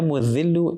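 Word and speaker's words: المذل: Ya Mu'adhillu is with a dhal.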